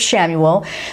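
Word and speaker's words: Chamuel: ariel and we have samuel that is spelled c-h-a-m-u-e-l the way now let's move on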